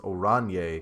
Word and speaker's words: Oranje: Okay, Oranje is pronounced Oranje.